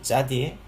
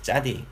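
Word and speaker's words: צדי: 다음에 발음은 짜 혹은 차. 근데 실제적인 발음은 이제 짜로 되어 있습니다. 이제 옛날 문법 책들 보면은 이제 차대 뭐 이렇게 식으로 발음이 표기가 되어 있는데 실제적으로 이제 이게 짜에 가까운 이제 발음이 되겠습니다.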